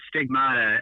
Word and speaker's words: Stigmvta: Yeah, the name is Stigmata. It's spelled just like it sounds, except there's a V in 7A.